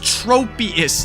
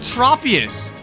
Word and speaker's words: Tropius: And if there's one consonant between two vowels, the first vowel makes its capital sound. Like this shit's not that complicated. It's tropious, not tropious.